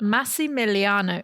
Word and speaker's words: Massimiliano: Not going to remember that name, but Massimiliano.